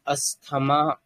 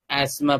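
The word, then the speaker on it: asthma: देखो अस्थमा को कुछ लोग अस्थमा प्रोनाउंस करते हैं और थोड़े लोग एस्मा प्रोनाउंस करते हैं। अस्थमा मतलब difficult in short difficulty अस्थमा बोल रहे हो या आप हस््मा बोल रहे हो दोनों प्रोनाउंसिएशन राइट होते हैं।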